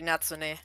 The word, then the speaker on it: Natsune: Actually would be natsune.